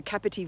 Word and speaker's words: Capertee: Yeah, Capertee Hotel.